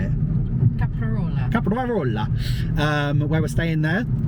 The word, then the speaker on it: Caprarola: Caprarola. Where we're staying there. Have to roll the R. Got to roll that R. We just can't. It's really hard to roll an R after saying a P. Caprarola.